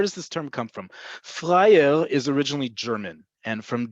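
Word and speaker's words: פראייר: If you don't know this word yet, you need to know this word, is the word freier. Freier or friar, however you want to pronounce it. Freier is best and often translated, it's often translated as a sucker, meaning a person.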